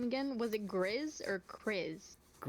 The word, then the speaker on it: Griz: Was it Griz or Chris? Griz, g r i z.